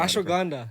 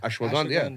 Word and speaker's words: ashwagandha: And I don't even know how to pronounce ashwilla. I don't even know. Ashwagandha. Ashwagandha, yeah.